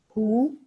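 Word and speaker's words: 呼: Hu, pronounced like hu, which is associated with the spleen.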